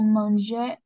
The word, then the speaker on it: mange: on mange d'accord mange le E à la fin on le prononce presque jamais d'accord on ne prononce